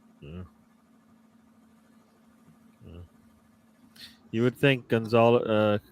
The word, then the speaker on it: Gonzalo: You would think Gonzalo, Gonzalo, is how you say his Ramos, and Yeah, Bruno